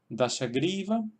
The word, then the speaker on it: Dashagriva: Sería Dashagriva, Dashagriva, Damayanti, Damayanti, Damayanti. Vemos que en el primer caso, Dashagriva, tenemos la sílaba gri, que tiene una sílaba larga y por tanto se queda ahí el acento.